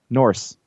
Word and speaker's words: Norse: mythology you know where you keep calling it north mythology norse norse i think i'm cutting off the word